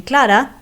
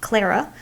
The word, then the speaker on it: Clara: For example, I started this talk by mentioning Clara, not Clara, going home to Jacarandá.